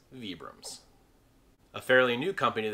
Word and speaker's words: Vibram: manufacturer actually uses these souls and they are pronounced vibrams a fairly new company of the scene of